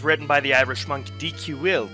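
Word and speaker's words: Dicuil: by the irish monk dq will that's how you pronounce it according to the danish pronunciation so we'll go with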